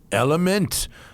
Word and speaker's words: LMNT: All right, it's LMNT, spelled LMNT, pronounced LMNT.